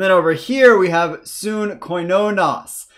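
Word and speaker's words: συγκοινωνός: So this gamma here is pronounced with a nasally n sound when it comes before a kappa, a gamma, or a key. So in this case, before a kappa, we're going to get the soon sound rather than su-g.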